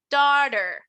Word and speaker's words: daughter: Fíjense que aquí esta palabra, la AU, se va a pronunciar como O. Entonces, no voy a decir daughter, voy a decir daughter. Daughter. Daughter. Right? Daughter. Daughter. Como si dijéramos daughter.